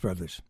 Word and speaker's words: Bros.: Winnipeg, Manitoba, the Landreth Brothers. Or as we talk, literally right off the bat, the Bros Landreth is how it looks, not how it's said.